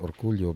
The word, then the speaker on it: Orcollo: The spelling of his name is really Orcollo. Yung pagbigas, Yeah. Orcollo. That's the real spelling of his name. Not you. Hindi you. Yeah, but it's just pronounced Orcullo because he is from Surigao.